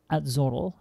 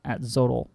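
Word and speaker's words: Atzoatl: I think this would be pronounced Atzotl. Because it's like Quetzalcoatl, isn't it?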